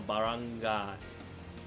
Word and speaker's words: Barangay: Yeah, that's Baran, not gay, so Barangay. Barangay. Guy, okay, so yeah, so it's like GUI kind of pronunciation.